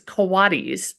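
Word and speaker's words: coati: It's not cotis. It's kowadis. Um oh wait kotamundi. Kawatti mundi. Kowadmundi. Yeah. And so it's weird because it looks like the English word coat.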